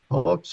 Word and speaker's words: Pollux: Pollux, is that how you say it?